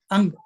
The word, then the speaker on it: Jung: Ang, or you will see as some people call him as Jung, C.G. Jung, but his name is Ang, because J is silent in that.